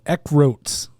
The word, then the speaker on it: Eckroat: I am going with Austin Eckroat because it sounds like Eckert, which is my buddy John Eckert.